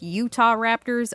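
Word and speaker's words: Utahraptor: the uter Raptors and I know that it's pronounced Utah Raptors I just think that sounds stupid so I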